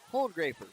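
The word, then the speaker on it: Cole Graper: able to learn that a preferred pronunciation is cold graper but just barely kind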